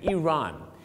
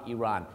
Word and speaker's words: Iran: เ อ ง ค รั บ Iraq and Iran.